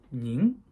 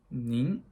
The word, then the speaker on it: 您: And it will be pronounced as 您. 您. 您.